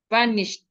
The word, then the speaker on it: vanished: The e and d here sounds like a t. Vanished.